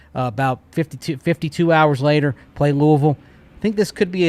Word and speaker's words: Louisville: North Carolina 9.5 point favorites tonight against Louisville. and I pronounced it correctly, by the way.